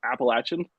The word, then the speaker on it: Appalachian: Mountains and for any anyone that thinks that that's not how you pronounce it that's take special notes it's appalachin because if you say it any other way in West Virginia when you're here in May you're gonna get corrected so um we we